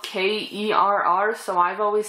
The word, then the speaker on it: Kerr: And so is, I hear her name pronounced as Carr, but it's spelled K-E-R-R, so I've always said Kerr. But Deborah Carr, she is great in this as well.